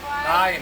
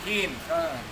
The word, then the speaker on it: kind: Someone Kain, no kin. Kain. Kain. Cara bacanya kayak itu yang kin, kain.